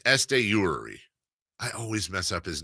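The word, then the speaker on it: Esteury Ruiz: When we come back, safe or out, including Estuary Ruiz. That's not how you say it. I think it's Estuary.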